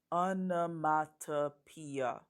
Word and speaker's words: onomatopoeia: learn about a special poetic device it's called anomatopoeia Anna Mata Pia that's a long word and it's kind of